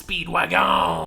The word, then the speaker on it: Speedwagon: Pronounce it correctly. It's Speedwagon.